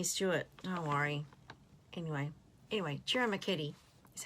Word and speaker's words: Ciro Marchetti: Anyway, Ciro Marchetti is how you say that other guy's name.